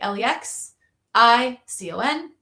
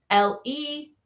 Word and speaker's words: lexicon: L-E-X-I-C-O-N. So pronounce these with me. Lex, this would be open syllable, lexicon, or make that schwa, and it would be lexicon, right? Or lexicon.